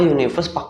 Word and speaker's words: universe: masuk Bro Universe Kenapa Universe kenapa karena si Universe ini meskipun awalnya adalah u ya ataupun huruf vokal tapi dibacanya itu pakai y jadi dia dikenakan hukum